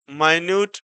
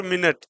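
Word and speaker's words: minute: जैसे वर्ड दिया है माइन्यूट और मिनट, तो इसको भी हम MINUT, तो एक वर्ड यानी इसका हम जो प्रोनाउंसिएशन हो गया वो माइन्यूट हो गया, और दूसरा क्या है, मिनट हो गया।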